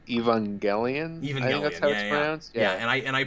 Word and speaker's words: Evangelion: the max yeah because i don't think the movie is evangeline i think it's evangelion yeah and i and